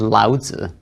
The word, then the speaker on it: Lao Tzu: Similarly, Lao Tzu used to be spelled with a TZU at the end, and now it's a ZI at the end. In both cases, the Chinese character hasn't changed, the pronunciation hasn't changed, it's just a different way of rendering that sound into English letters, into the alphabet. So it's Daoism and Lao Tzu.